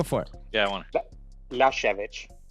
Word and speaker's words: Lyashevich: Is it the K? No, No, it's it's Ukrainian. the H sound at the end. Shall I say it now? Yeah, go for it. Yeah, I want Lyashevich. Lyashevich.